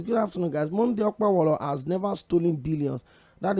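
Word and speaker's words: Okpebholo: On a lighter note, his name is pronounced Okpewolo. Forget about the spelling.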